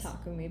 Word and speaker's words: Takumi: It's Takumi, but yeah. No, sorry, I will mispronounce these.